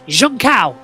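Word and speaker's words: Junção: it the junction yes not how david crofty crofty pronounces it as uh because it's it's jean cow that's how you pronounce it i've had an actual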